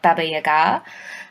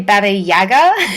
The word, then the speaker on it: Baba Yaga: but they're powerful so you get people like Baba Yaga um you know and and yeah I I oh well you actually you actually pronounce it correctly yes people tend to say bab Yaga especially here in Australia but I do know